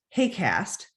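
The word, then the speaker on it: HAQAST: team which has a funny acronym that we pronounce hey cast and we've been working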